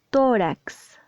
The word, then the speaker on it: tórax: márgenes es márgenes like tórax tórax esta tienda da en la penúltima sílaba si está bien pronunciada